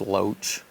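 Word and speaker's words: LOH: it's it's low observation helicopter but but it's pronounced Loach it's a scout bird which uh you had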